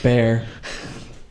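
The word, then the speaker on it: Behr: if you can uh it was the brand that's spelled b-e-h-r bear so this is the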